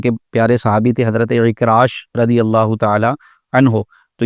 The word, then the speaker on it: عکراش: تو اکاریش تلفظ کے ساتھ نام درست نہیں ہے، اس کا صحیح تلفظ ہے اکراش، عین کے ساتھ، عین کاف را الف شین، اکراش۔ اور اکراش کا مطلب